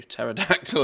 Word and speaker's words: pterodactyl: doing enough peroda uh you don't pronounce the P do pterodactyl legs I'll learn to